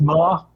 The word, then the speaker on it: Maher: Most people do pronounce my name Maher. It's actually pronounced Maher. Maher. As in car.